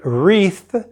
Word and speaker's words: wreath: Now remember, when you pronounce the word wreath, the W is silent.